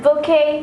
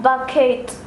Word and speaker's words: bouquet: Nice, but it'll be bouquet, not bucket.